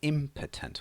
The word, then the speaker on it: impotent: potent means powerful okay the opposite of this word is pronounced very differently that one is impotent with theah there so